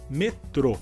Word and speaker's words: metrô: vai usar a palavra metrô, onde temos a sílaba mais forte como última, devido à letra que leva um acento.